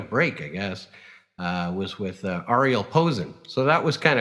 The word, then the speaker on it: Arie: Arie, yeah.